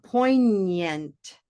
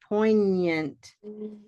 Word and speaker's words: poignant: GN sounds like my ñ in Spanish to me.